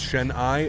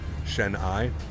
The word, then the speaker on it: Chennai: it at the farm it's pronounced shen eye okay good thank you not shen i good i would pay